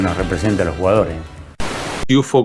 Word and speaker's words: Cuciuffo: Cuchufo, como lo pronunciaba él, nació en la ciudad de Córdoba el 1 de febrero de 1961.